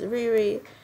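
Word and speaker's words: Rere: The first YouTuber, her name is Riri, or it's R-E-R-E, and that's how it's spelled.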